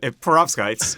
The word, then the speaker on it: perovskites: If I can pronounce it, that is. Yeah, perovskites.